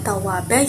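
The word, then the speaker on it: تَوَّابًا: Ingat ya, bahwa mad iwad itu panjangnya 1 alif atau 2 harokat atau 2 ketukan. Maka tadi membacanya tawwaba yaitu tawwaba. Begitu ya.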